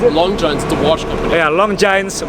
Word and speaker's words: Longines: How do you pronounce it? Longines, the watch company.